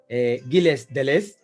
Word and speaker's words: Gilles Deleuze: Guille Delois también es filósofo, se pronuncia Deleuze. Ah, vale. Pues Guille Deleuze, gracias, Jaime. Gilles Deleuze, gracias.